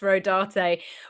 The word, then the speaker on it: Rodarte: The only reason why I know it's pronounced Rodarte was because I I looked up the designers.